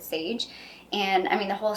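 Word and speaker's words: Saje: It's S-A-J-E. I think you pronounce it Sage.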